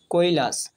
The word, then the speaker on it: কৈলাস: কৈলাস, কয় ঐকার কই, লয়ে আকার দন্তেশ্ব, কৈলাস, অর্থাৎ কয়ের সাথে ঐকার যোগ হয়ে কই হয়েছে আর লয়ের সাথে আকার যোগ হয়ে লা হয়েছে আর দন্তেশ্ব সিঙ্গেল উচ্চারণ হয়ে লাস হয়েছে, অর্থাৎ লয়ের সাথে আকার যোগ হয়ে লা হয়েছে আর দন্তেশ্ব উচ্চারণ হয়েছে, অর্থাৎ এর উচ্চারণ হবে কৈলাস।